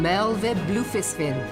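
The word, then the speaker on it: Merlwyb: reading about in the field reports I am Mel blin Admiral of limsaa so that's how you pronounce her name on behalf of my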